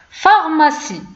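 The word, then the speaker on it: pharmacie: مثال ثاني، دونك هنا كتشوفوا بي حداها اش دونك غادي نطقوا بها اف. فارماسي صيدلية فارماسي. أورفيلان، لاحظوا أن بي دونك بي حداها اش نطقنا بها حتى هي اف دونك أورفيلان.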